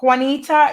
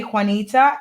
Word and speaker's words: Juanita: Facebook you can find Juanita is spelled like one like don't one foreign ITA Juanita and in my last